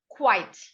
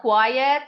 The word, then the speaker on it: quite: very good so quite this is pronounced quite not quiet not quite means some how i'm